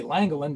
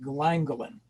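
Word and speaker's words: Llangollen: spelling it's actually l-l-a-n-g-o-l-i-n you'd think would be langolin but no it's actually pronounced glandolin and how do you actually Moor your boat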